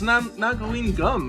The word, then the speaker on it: Nagaline Gum: I'll pronounce it right this time. How about that? Since apparently I can't read, but Amber can read, and she's like, "Oh, it's Nagaline Gum," and I'm like, "What?